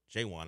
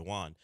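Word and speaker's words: J'Wan: we found out yesterday that's how you say his name jaywan as opposed to Jawan Roberts jaywan Roberts a little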